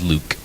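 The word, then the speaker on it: LIWC: They pronounce it as Luke.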